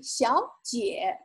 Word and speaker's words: 小姐: young lady called 小姐小姐 And note again, this is tone sandy, meaning it's two-third tones back-to-back. So the first third tone sounds like second tone. Instead of saying 小姐, you only say 小姐, 小姐.